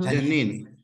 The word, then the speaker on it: Janine: Janine, you pronounce it Janine? Mm-hmm. Janine. Janine. It sounds Janine.